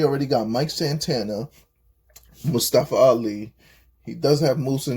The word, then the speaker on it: Ali: Ali.